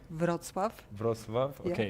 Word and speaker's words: Wrocław: I'll be in Krakow, Warsaw, and you have to help me with the pronunciation of the last, because I think in Polish you say Wrocław. Wrocław.